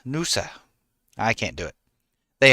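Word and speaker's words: Noosa: You got to add a few more O's to say it like an Aussie. Nusa. Nusa. Nusa.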